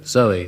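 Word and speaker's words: Zowie: It's called Kooks and celebrates the birth of a baby on Sunday called Zoe at the moment, spelt, of course, Z-O-W-I-E, to rhyme with Bowie.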